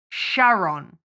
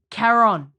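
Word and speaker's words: Charon: Quran like a it's it's ch but it's K that's how you pronounce it and the only thing that me in the entire film is that Winston says Sharon like Sharon yeah like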